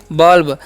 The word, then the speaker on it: bulb: उसी प्रकार से BULB है तो यहाँ पर भी यू का उच्चारण अ करना है। तो बी का ब, यू का अ, एल से ल, बी से ब, तो हो गया बल्ब।